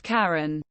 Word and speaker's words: Cayenne: Cayenne pronounced Karen.